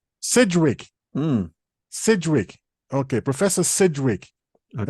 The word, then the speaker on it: Sidgwick: It's not said. If it had been in Sedgwick. There's no E. That's why I'm... Sidgwick.